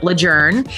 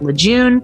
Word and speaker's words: Lejeune: looks like it's Camp Lejeune and apparently it's named after someone whose name was pronounced adjourn and so that's why